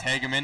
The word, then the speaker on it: Hegerman: paint now Devon hegerman I guess it's hegerman not Hugman so I've been saying